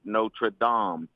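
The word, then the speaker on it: Notre-Dame: If you were talking about the church in Montreal, you would say Notraam.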